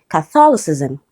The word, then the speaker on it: Catholicism: But with ISM, it becomes Catholicism. Catholicism. Okay, so it's stressed on the second syllable.